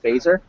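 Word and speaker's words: Feser: If you would like, I could suggest a good book to you by the Catholic philosopher Edward Fazer.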